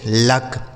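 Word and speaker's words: luck: आर यू एन रन एल यू सी के लक एल यू सी के क्या हो गया लक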